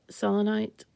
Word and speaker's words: selenite: This is selenite. I hear people call it selenite, but I think of it as a Greek word and pronounce it so.